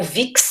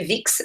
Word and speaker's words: Vix: mulher de vi ou vix né se escreve vix mas em francês é vi fala vi ela foi sepultada né